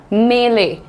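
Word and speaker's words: melee: That's called a मेले। What is the pronunciation? मे ले। मैं ले पहला मैं इज लाइट सो मे ले मेले राइट दैट्स अ मेले नाउ मेले नहीं मेले ओके दैट्स अ मेले एंड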